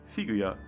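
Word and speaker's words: フィギュア: In Romaji it's Figarando, which sounds very similar to how you pronounce figure in Japanese. Figuya.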